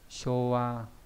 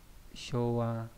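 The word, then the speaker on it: 昭和: Showa Jidai, thời đại chiêu hòa đấy. Cũng đọc là show đúng không các bạn? Đấy. Showa Jidai.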